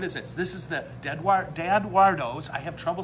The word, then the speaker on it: DaEdoardo: DaEdoardo, I said it right, in Grand Blanc.